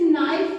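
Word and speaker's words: knife: के साइलेंट होगा ना बाबू तो के जब साइलेंट हो जाएगा तो इसे नाइफ पढ़ेंगे ठीक है ऐसे ही बहुत सारे वर्ड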